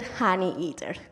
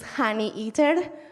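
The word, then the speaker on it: honeyeater: Australian fellow, the helmeted honey eater. By the way, it is honey eater, not honey eater. I spent the whole first year of my PhD pronouncing it like that.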